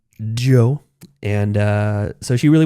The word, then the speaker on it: Djo: It's pronounced Joe. The D is silent. The D is silent. Joe.